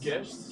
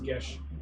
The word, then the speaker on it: Geas: And I'm casting a gesh on the elemental. He has to make a what? a gesh. What's the spell? It's Geas. I looked up his pronounced gesh. Yes. Online it says gesh.